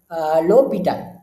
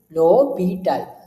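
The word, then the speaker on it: L'Hôpital: So, we can pronounce this as L'Hopital, okay? L'Hopital. So, basically, there is no sound for this H, okay? So, there is no sound for this H. So, you can pronounce it as L'Hopital, okay? L'Hopital.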